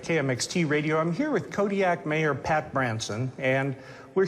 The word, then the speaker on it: Kodiaq: In the Alutiiq language, the Q's are more come from like your throat than a normal K does. How would we pronounce it then? Kodiaq.